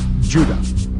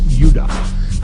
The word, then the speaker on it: Judah: were called Benjamin and Judah more properly pronounced UDA because we didn't get the harder sound to the J until about 200 years ago so this is what